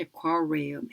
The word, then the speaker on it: aquarium: Aquarium 아니면 Aquarium, 이렇게 돼서 Q 발음의 입술이 앞으로 나오는 단어이기 때문에 aqua 할 때 입술 쭉 앞으로 빼주셔야 돼요. 그리고 aqua 이렇게 되기 때문에 W 발음처럼 aquarium 이렇게 됩니다.